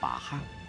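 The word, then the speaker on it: 捞虾: 在当地语言中，捞虾念作把哈，久而久之，博鹤也由此得名。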